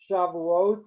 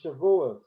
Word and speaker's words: Shavuot: Shavuot and Shavuos, Sukkot and Sukkot, Simchat Torah and Simchat Torah, Yiskadal v'Yikadash from the Kaddish, Yiskadal v'Yiskadash, different pronunciation in Ashkenazi.